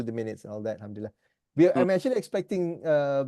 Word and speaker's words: alhamdulillah: becom us that's right exactly that's how you pronounce alhamdulillah so brother okay we missed you just now